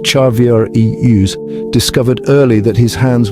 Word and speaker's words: Charvarius: Chavarius, whose name is pronounced Charvier Eus, discovered early that his hands were gifts from heaven, not just for catching footballs, but for changing lives.